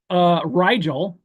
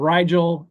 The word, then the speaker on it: Rigel: So we have the entire winter hexagon here, and we'll start with Rigel.